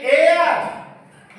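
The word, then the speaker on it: heir: तो आप एयर कहलाएंगे एयर ए से उच्चारण मैंने किया है एयर ए लगाया खट्ट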